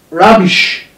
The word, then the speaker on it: rubbish: Most of the words that end in ish, that ish, are stressed on the syllable that comes before the syllable ish, ish. For example, we have rubbish. See where the stress is. Rubbish.